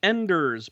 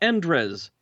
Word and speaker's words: Enders: exclamation mark excellent Erica Enders pronounced just like it's spelled not endres did I say Andres